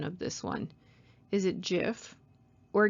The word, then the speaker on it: GIF: this one is it jif or gif well steve wilheit is the man who created the format in 1987. he himself states that is pronounced as jif but alas the debate